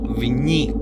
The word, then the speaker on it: Viy: Hoy vamos a hablar acerca de una película que se llama Vi o Viñi, como se pronuncia en ruso.